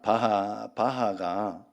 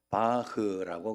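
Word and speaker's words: Bach: 바하가 바흐라고 그래요. 원 발음은 바흐. 그런데 한국에 소개될 때 바하라고 소개돼서 바하. 그래서 그 음악의 아버지 그러나요?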